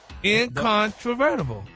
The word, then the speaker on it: incontrovertible: Now, it's an adjective, y'all, and it's pronounced incontrovertible. Yeah. Oh, that's broke down in syllables.